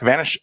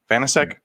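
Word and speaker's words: Vaněček: Vitek Vanish, was it? How do you say it, Nick? Vanacek? Vanacek, yeah.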